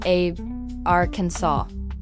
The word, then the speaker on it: Arkansas: The official legislative pronunciation is a ransaw with the final s being silent.